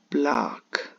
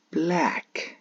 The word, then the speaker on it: black: actually say the word block block sadly that's a mispronounced word which is we uh should avoid anyway we should pronounce the word as black not block so I must confessed